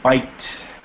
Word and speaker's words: bite: When you look at words, and if it was just B-I-T, then you're going to have the short vowel sound, okay?